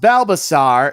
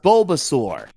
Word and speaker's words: Bulbasaur: No, it's not pronounced Bbasaur. It's pronounced Bulbasaur.